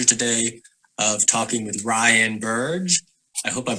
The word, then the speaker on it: Burge: with the pleasure today of talking with Ryan Burge I hope I'm pronouncing your last name correctly you got it